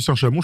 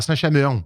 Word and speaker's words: Saint-Chamond: Tout à fait, t'as dit Saint-Chamond, je suis un peu déçu, Erwan. C'est pas comme ça que tu prononces d'habitude. À Saint-Chamond. Tout à fait. Voilà, là, je préfère.